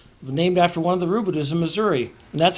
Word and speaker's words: Rabideau: Missouri, the Rabideau, named after one of the Rabideaus in Missouri. And that's how they pronounce the name there.